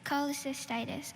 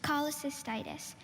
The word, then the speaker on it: cholecystitis: from the greek itis meaning inflammation indeed okay cholecystitis um and can can he please have the part of speech noun okay cholecystitis c h o l e c y s